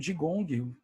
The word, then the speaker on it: Qigong: É o Qigong ou o Jigong, pela questão da pronúncia, o Tai Chi Chuan,